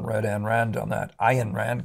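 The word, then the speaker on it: Ayn Rand: an Rand on that Ian Rand Guys these guys want me to pronounce not an i Rand the um the ex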